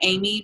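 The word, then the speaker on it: Aim: Ambassador her name is am darling it's a i m darling d a r l i n g it looks like Amy but it's pronounced am um and then another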